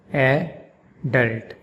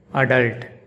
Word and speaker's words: adult: In British English, it's pronounced adult, adult, adult, with the emphasis on the first syllable, adult. And in American English, it's pronounced adult, adult, with the emphasis on the second syllable, adult.